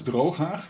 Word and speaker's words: Drooghaag: I believe that only when you are either Dutch or Arab speaking, you can pronounce it properly with the ch. Otherwise, it will just hurt your throat.